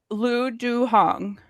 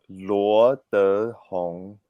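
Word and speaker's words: Luo Dehong: It's Luo De Hong. There go like the second, Yes, as we learned, so there are 4 tones, right? Yeah. So the second tone.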